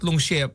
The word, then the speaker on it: shift: you pronounce the F, please? Shift. Shift. Shift.